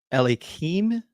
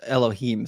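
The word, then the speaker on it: אלהים: Let me see if I can pronounce this one quickly. Hayakol Ukal Daber Me'uma Hadaber Hadabar Esher Yasim Elikim. No, it's Elohim.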